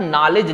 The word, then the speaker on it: knowledge: जैसे आप नॉलेज लिखते हैं, नॉलेज, नॉलेज, नॉलेज में क्या क्या साइलेंट होता है, उसमें देखिए स्पेलिंग क्या होती है, KNOWLEDGE। अब देखिए इसमें कौन कौन सा शब्द साइलेंट है, की। सबसे पहले क्या है, के साइलेंट है। फिर नॉलेज, देखिए इसमें W आप मान सकते हैं, नॉलेज है, डी, यहां पे और कौन सा साइलेंट है, डी। डी का हम उच्चारण नहीं कर रहे हैं।